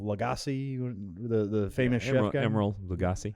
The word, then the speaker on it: Emeril Lagasse: Emeril Lagasse.